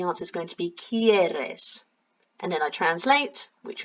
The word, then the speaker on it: quieres: So you can tell there's a pronunciation difference because the ones with the IE are a bit more like a key sound at the beginning, quiero, quieres, and without the I it's a que kind of sound, so queremos,